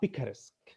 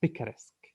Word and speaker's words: picaresque: uh his his his novels are called uh picaresque you know picaresque what is a pica risk